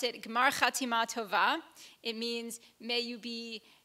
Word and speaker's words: Gmar Chatima Tova: I pronounce it Gmar Chatima Tova.